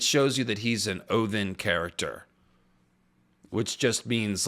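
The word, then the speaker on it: Óðinn: it's a it's a it's a different letter that's pronounced with a hard th so it's oen is actually how you say it not Odin it's Odin then Odin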